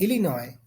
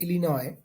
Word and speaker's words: Illinois: are silent just like Illinois uh so s is silent in Illinois as well as Arkansas